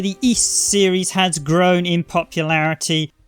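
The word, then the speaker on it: Ys: y series or if i pronouncing it correctly east it's pronounced double e double s and it's actually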